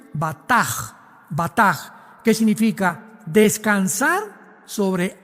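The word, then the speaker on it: בטח: Y es la palabra hebrea batch con b de burro y ch al final. Se pronuncia bataj.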